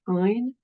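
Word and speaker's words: -yne: To show its presence in the name, you're going to change the ending ane to yne, which is pronounced "ine," and use the lower of the two numbers that you got up here.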